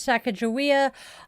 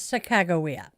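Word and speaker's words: Sacagawea: Uh, I know so many people who mispronounce her name as Saka Jawia. I was corrected by one of her descendants. It is Sakagawa.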